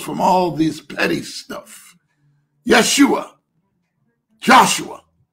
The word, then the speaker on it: Yeshua: all this petty stuff Yeshua Joshua in the Hebrew tongue the J is often pronounced yes okay so yua not Joshua in English is Joshua but in Hebrew is yosua okay I'm not Hebrew